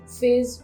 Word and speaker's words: phase: तो PH का जो साउंड होता है ना वो फ का होता है, तो यहाँ पे इसका ग्राफीम होगा PH, F नहीं होगा.